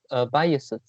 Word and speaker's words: biases: Biases. Yeah, By biases. bias, biases, biases. You pronounce is behind is the second the es you pronounce is s, s. You pronounce s, not pronounce z.